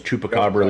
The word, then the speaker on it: chupacabra: actual where they're saying uh Spanish pronunciation is chupacabra literally Goat Sucker from